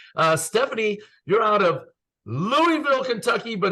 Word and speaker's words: Louisville: Stephanie you're out of Louisville Kentucky but if you say it like that people down there make fun of you so you have to say it Louisville I think I got